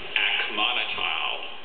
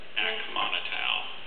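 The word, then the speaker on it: acmonital: Akmonotal. I'm sorry, Akmonotal. Definition, please. It's a stainless steel alloy used especially for low-denomination coins, especially in Italy and Albania. Akmonotal.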